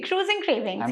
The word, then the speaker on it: Cruisingcravings: Cruisingcravings, yeah, correct.